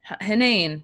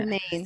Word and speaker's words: Henein: Henein. Damn it. Henein.